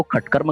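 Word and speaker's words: षट्कर्म: लेकिन जब यही चीज प्रारंभ में आ जाए तो उसको खटकर्म कहेंगे, षोडशोपचार पूजन कहेंगे उच्चारण की दृष्टि से। हमारे शांति कुंज में जब कर्मकांड का प्रशिक्षण दिया जाता है तो उसमें यही नियम बताया गया है कि प्रारंभ में आने पर इसको ख, मध्य अथवा अंत में आने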